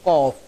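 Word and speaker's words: ق: এই হরফটির উচ্চারণ হয় জিহ্বার গোড়া তার বরাবর উপরে তালুর সাথে সম্পৃক্ত হয়ে হরফটির উচ্চারণ হবে।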